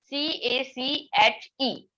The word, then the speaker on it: cache: As we see, it has a spelling as CACHE, but it is pronounced as cache.